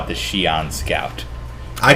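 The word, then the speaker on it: Xi'an: the real world the the writers actually encourage the different pronunciations of Shian however in our Confluence Data Page there is a specific the official the one that they raised themselves go by is Shion I've never heard anyone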